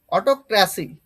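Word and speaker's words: autocracy: পরে দেখো অটোক্রাসি।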